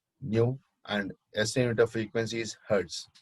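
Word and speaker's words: ν: You pronounce it as nu.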